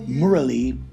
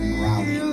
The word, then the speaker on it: Murali: gave me the name Murali, is how it's pronounced in India, and it means the divine flute in Sanskrit. But we just kind of Americanized it and said Murali.